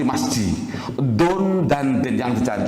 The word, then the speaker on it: masjid: Oh, tidak ada orang baca misijid, tidak ada, Pak. Mesti ada nggak orang baca misijid, ada nggak? Nggak ada ya. Bacanya mesti masjid.